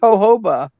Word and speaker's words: jojoba: I think it's pronounced jojoba.